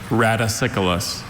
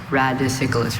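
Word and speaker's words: radicicolous: Are there any alternate pronunciations? There's just the one. Raticyus. Raticyus. Okay. Repeat the word again. Raticyculus. Raticyculus.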